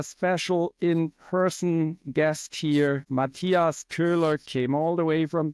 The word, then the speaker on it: Köhler: Yeah, well, like you said, my name is Matthias Köhler, or Matthias Koehler, like the Americans say.